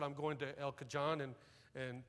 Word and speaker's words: El Cajon: I said, I'm going to El Cajon and San Jose. She said, out here we pronounce that J like an H. It's El Cajon and San Jose.